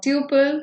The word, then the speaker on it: tuple: is tles in Python you can either pronounce it as tle or Tuple whatever it is uh I'm not uh going much into the pronunciation but I'll be following the pronunciation tle throughout my session so welcome to